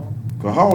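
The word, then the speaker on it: קהל: Who can pronounce it? Kahal, that's what it is.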